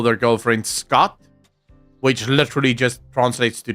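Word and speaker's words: skat: Scott. Scott. As in S-K-A-T. Scott. Not scat. Scott.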